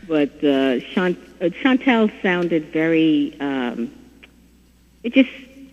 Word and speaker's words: Chantel: said well you know shantu in French is singer and shant is to sing so we said what about the Shantel but we pronounced it Shantel right and so that